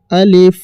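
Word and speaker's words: ألف: আলিফটিকে তাড়াতাড়ি পড়তে হবে এবং আলিফ শেষের দিকে ফা এর মত ফ এর মত উচ্চারণ আসবে।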